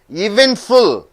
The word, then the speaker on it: eventful: Eventful, how many sounds are there? Eventful, three sounds are there. So where do you stress? Which sound you have to stress? You have to stress the second sound.